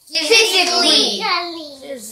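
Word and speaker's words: physically: ফিজিকলি, ফিজিকলি, ফিজিকলি।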